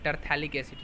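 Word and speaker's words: terephthalic acid: इसको हम लोग थैलिक एसिड कहते हैं, ठीक है, टरथैलिक एसिड, ये PH साइलेंट होता है।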